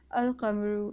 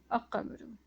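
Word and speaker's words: القمر: letter so okay so this graph has not silenced the lamitar if and therefore is pronounced as al-kamuru instead of akkamuru okay that would have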